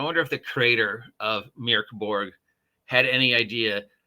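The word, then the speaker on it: Mörk Borg: for pirate Borg for mirk Borg because remember we've been pronouncing it wrong it's mirk not Mor it's mirk Borg mirk Borg or Meow Borg pirate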